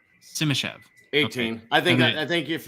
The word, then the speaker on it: Simashev: Simashev.